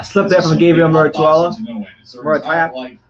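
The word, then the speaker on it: Muratalla: This is Murataya. Murataya. There's no I though. There's no I in his name.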